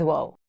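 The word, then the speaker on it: واو: In this lesson, you'll learn the two remaining vowels in Arabic, wo and yet. First, let's start with wo. This letter sounds like the English U in the word tune.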